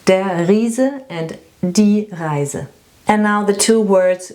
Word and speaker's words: Reise: Reise, this is a journey or a trip. And Riese, this is a giant. Reise and Riese.